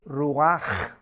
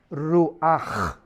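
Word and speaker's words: רוח: espíritu es ru pero la ch en hebreo se pronuncia como J es ruaj ruaj como j y murió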